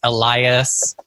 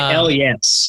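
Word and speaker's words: Elyas: who knows it's actually l yes it's like a hell yes but you did the h is silent or like el yas yeah yeah yeah yeah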